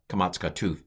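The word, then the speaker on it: קמץ קטן: comes to kamatsuka dole pretty much everywhere long a but when it's in an unaccented closed syllable then it's a kamatsuka tooth that is a short o and this has been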